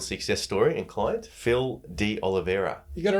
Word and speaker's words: De Oliveira: I'm going to get your name wrong. We're here with MPT REBUILD Success Story and client, Phil D. Oliveira.